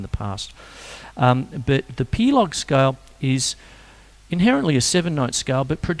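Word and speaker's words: pelog: we have a scale called the plog scale that's p e l o g once again I hope I have pronounced it properly and essentially um a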